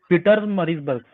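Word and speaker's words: Pietermaritzburg: Correct, उसका नाम है पिट्स मरिट्सबर्ग, पीटर मरिट्सबर्ग या फिर पिट मरिट्सबर्ग, ठीक है। ओके, यहाँ स्पेलिंग पे बोलता है।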